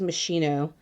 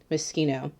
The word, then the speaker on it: Moschino: palette all the time instead of moschino i think i think it was meschino because i had no idea how to pronounce moschino but i really enjoy